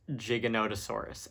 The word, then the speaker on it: Giganotosaurus: I've seen a lot of people pronounce it wrong. It's, of course, Giganotosaurus, aka Gigantosaurus.